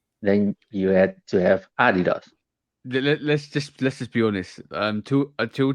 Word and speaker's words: Adidas: Well, I think it were more tennis shoes, New Balances, Adidas, or like we have to say, Adidas. Um, I just work. Adidas. I'm tweaking your pronunciation of Adidas. So Adidas.